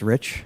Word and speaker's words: Rich: So, it's pronounced Rich.